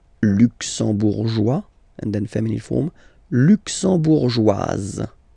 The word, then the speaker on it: luxembourgeoise: Le Luxembourg, luxembourgeois, luxembourgeois, and then feminine form, luxembourgeoise. Okay, same thing here, only difference, joie, joie, joise, z, z. Okay, you insist on it.